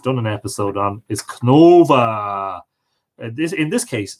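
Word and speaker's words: Cnodba: an episode on, is Cnova. In this case, spelled C-N-O-F-A-D-B-A. But of course, because of lenition, would be pronounced Cnova, not Knodba or Knodba, as you might read it.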